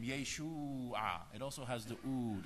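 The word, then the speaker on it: ܝܫܘܥ: It's pronounced Yeshua. Yeshua. Yeshua HaMashiach.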